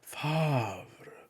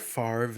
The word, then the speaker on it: Favre: You know, my good buddy Brett Favre, or Brett Favre if you enjoy the less common, the incorrect pronunciation. I prefer my version.